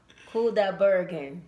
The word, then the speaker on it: Kudaibergen: I hope I pronounced his name right. Yeah. Kudaibergen.